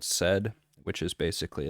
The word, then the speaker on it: sed: it a said pattern said it's spelled sed so first you give